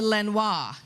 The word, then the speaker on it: Lenoir: didn't go over so i even used the the french pronunciation that i know you all use around here siri how do you get to lenoir she couldn't find that